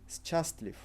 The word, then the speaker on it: счастлив: So if we would read normal, so the way we would read the letters, ты счастлив. Are you happy? However, Russians would speak ты счастлив, replacing счастлив. You don't need to worry about this. If you pronounce the way it's written, it's absolutely fine.